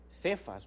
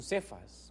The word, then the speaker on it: Cefas: Ven, ahí aparece esa expresión Cefas o Kefas, como se dice en otra pronunciación, porque era tan importante el nombre de Pedro que dejaron el original.